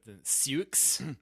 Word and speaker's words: Sioux: And none of which are spelled like Sioux. Sioux. Sioux. If you're in Sioux City and your name is Sue, you can't sue the city of Sioux City.